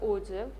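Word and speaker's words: ogive: ओजिव less than ओगे यू can pronounce it ओगे और ओजिव according to your convenience so ओझिब एकदा आपण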